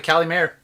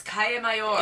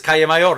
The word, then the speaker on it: Calle Mayor: Everyone calls it Cali Mayor. It's Calle Mayor. It is Calle Mayor.